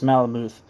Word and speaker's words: Malamuth: There have been some complaints about the liberties Malamuth, is it Malmuth or Malamuth? Did I say it wrong the first time? Yeah, I said it wrong the first time. It's Malamuth. There have been some complaints